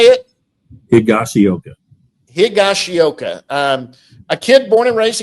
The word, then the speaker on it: Higashioka: Higashioka.